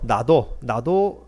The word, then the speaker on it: 나드: 이 나드 기름은 나도 기름이라 하면은 발음이 좀 헷갈리죠. 나도 밥을 먹었다 할 때 그 나도 또한 그런 뜻이 되기 때문에 나도라는 발음이 좀 더 맞겠습니다만은 헷갈리지 않기 위해서 그냥 나드라고 그렇게 발음을 하겠습니다.